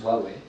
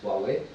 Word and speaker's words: Huawei: Donc la marque se prononce Huawei. Okay. Alors, en chinois c'est Huawei. Nous on a décidé de pousser le Hua et le Wei, jouer sur l'association du Wow, super, le produit magique,